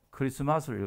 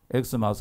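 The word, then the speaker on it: Xmas: 란 말에 찾자 거든요 그러니까 영어 표기로 x 마 살지라도 읽기 는요 크리스마스를 줘야 됩니다 x 마스 얼반 세상이 없습니다 이 크리스마스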